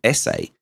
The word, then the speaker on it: Esse: a great utility called essay at least i believe it's called sa it's spelt e double s e and it certainly looks to me like that's how it should be pronounced it's a completely free